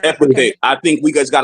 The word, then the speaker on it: epithet: But when I say epitaph, just know what I mean. Okay? Because Elyon is an epitaph of El. Okay? You mean the E-P-I-T-H-E-T word, right? Exactly. However you want to spell it. That's epithet.